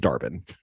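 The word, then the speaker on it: Dar-Benn: that her name yeah they pronounced it dar dar Ben okay yeah it's like Daren Ben but it's it's darbin if you knew her in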